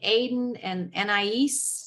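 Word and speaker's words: aden + anais: i always look at them i found some aiden and niece that's how you say it um but the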